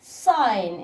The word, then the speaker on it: sign: sign اللي هي علامه او اشاره. هل احنا هنا بننطق لتر جي؟ نو.